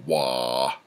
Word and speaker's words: Waugh: a Giallo of Hillary Waugh. Am I saying that right, babe? Mm-hmm. Wah. Who is it? Wah. How do you say wah? Wah. W-A-U-G-H.